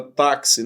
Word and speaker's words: táxi: Na verdade, táxi tem 4 letras, mas tem 5 fonemas. Porque, na verdade, você fala o fonema KS, tá vendo?